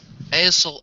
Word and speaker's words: aisle: Now run down the aisle and let go. Good. And we'd say aisle.